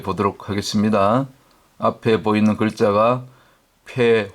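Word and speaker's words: פ: 알파벳 17 번째 순서인 폐 혹은 페이에 대해서 공부해 보도록 하겠습니다 앞에 보이는 글자가 폐 혹은 페이로 발음하는데 숫자 값은 80이 되겠습니다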